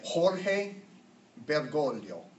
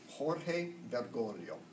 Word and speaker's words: Jorge Bergoglio: thanks be to God for that can you pronounce his name once that we get it this gives original original Jorge bergoglio Jorge bergoglio so the Jorge is the Spanish the portfolios